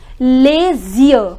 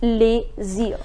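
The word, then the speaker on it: les yeux: instead we have a different word with the pronunciation LAZIER, YEUX, that is LAZIER.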